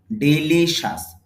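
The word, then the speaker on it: delicious: হল ডস এর মত যেটা স সাউন্ড তাহলে উচ্চারণ হবে ডেলিশাস ডিলিসাস ডলিশাস শব্দের অর্থ হলো সুস্বাদ।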